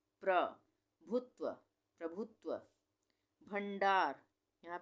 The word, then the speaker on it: प्रभुत्व: प का उच्चारण आधा हो रहा है, र का पूरा हो रहा है। प्रभुत्व, प्रभुत्व।